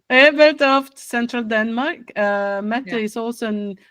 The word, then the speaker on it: Ebeltoft: I know it's hard to pronounce if you're not. No, Ebeltoft. Yeah, Ebeltoft. Yeah, you're right. Ebeltoft, Central Denmark.